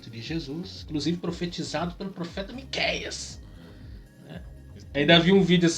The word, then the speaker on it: Miquéias: eles não chama de miquéis Ainda mais agora que na nova ortografia no meu nome não tem mais acento então eles lê me qias que com acento fica Miqueias fica situada fala se